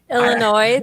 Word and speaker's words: Illinois: said illinois or illinois illinois the the s is silent um but a lot